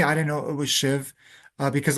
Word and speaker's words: Shiv: I didn't know it was Shiv uh because a lot of people hear Shiva, but the A is silent which represents the true essence.